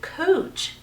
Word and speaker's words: Couch: They have a street here that is spelled C-O-U-C-H. It is spelled couch. It is Couch Street. But everyone around here calls it Cooch, which is hilarious to